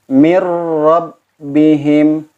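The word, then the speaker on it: من ربهم: Ketika bertemu dengan huruf ra, mir rabbihim, mir, tidak harus ada dengung karena ini bila guna, tanpa guna.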